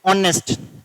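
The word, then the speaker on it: honest: ऑनेस्ट H silent होता है तो क्या आएगा?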